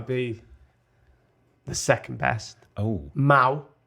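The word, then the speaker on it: Mahou: the second best oh Mao Mao as in chairman it's spelled m-a-o-u basically if you Spanish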